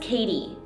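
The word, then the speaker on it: Cady: need any help doesn't catty remind you of Regina George it's pronounced Katie Regina George Katie Herron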